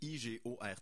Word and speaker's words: Igort: de Caucase de Igor Igor écrit avec un t I g o r t mais prononcés Igor j'ai fait mes recherches